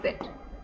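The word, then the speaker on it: debt: और उसको जो उधार लिए उधार को क्या बोलते हैं? बी साइलेंट है। ठीक है? डेट नॉट एबल टू पे हिज डेप्ट।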